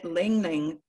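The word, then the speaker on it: ylang-ylang: Yeah, Lang Lang. I bet the Y is silent.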